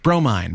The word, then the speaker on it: Bromine: Bromine, pronounced bro, mine.